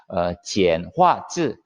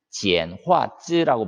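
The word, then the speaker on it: 简化字: 지엔화즈, 지엔화즈라고 발음하는데 지엔화라고 하는 것이 간단하게 만들었다 이런 의미예요.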